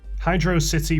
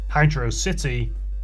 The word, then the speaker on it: Hydrocity: The Sonic community has suggested two possible pronunciations for the zone: Hydro City or Hydrocity.